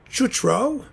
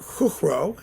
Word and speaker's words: Chuchro: That's Jan Panenka, Josef Suk, and let's see, Joseph Chutro, or Chuchro, actually, probably is how you pronounce it more likely in Czech.